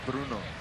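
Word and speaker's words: Brno: i played for in the czech republic from bruno spell it b-r-n-o b-r-n-o it's about two and a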